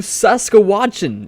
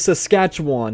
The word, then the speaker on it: Saskatchewan: will be going to Sasa watchin if I even said that right Saskatchewan yeah I messed that one up big time is Saskatchewan that's how you say it next up will be